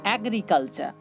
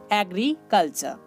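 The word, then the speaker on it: agriculture: AG এক, RI রি, CUL কাল, TURE চা, অ্যাগ্রিকালচার, অ্যাগ্রিকালচার। ওকে, কেউ জানো আপনারা বলবেন না অ্যাগ্রিকালচার, এটা ভুল প্রোনাউন্স হবে, কেননা শব্দের শেষে ই থাকলে সেই ইটার উচ্চারণ হয় না, যেটা আপনাদেরকে লেভেল 18 এবং 19 নাম্বার ক্লাসে বোঝানো হয়েছিল।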